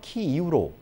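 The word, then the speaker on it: 키이우: 드린다는 점 말씀드립니다 대표적으로 수도는 키에프 에서 키 이후로 j 의 도시 하리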